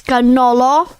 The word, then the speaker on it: cannoli: Listen, the cannoli. Okay. How do you say cannoli? Cannoli. It's got, if it's single plural, it's ganolo.